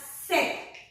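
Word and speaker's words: cette: C-E-T-T-E, pronounced as set.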